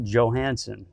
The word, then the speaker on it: Johansson: Joey Atlas and today's great guest is Michael Johansson correct yes good pronunciation he goes by MJ so you're gon